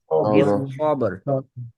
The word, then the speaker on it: بالصبر: وتواصوا بالصبر وتواصوا بالصبر এই দুইটা স যখন উচ্চারণ করেন বিস বিস বিস বিস بس بس সিন যেন না আসে, সদ ব্যাক অফ দ্য টাং উঠবে, বিস বিস বিস সবর বিস সবর صو বিস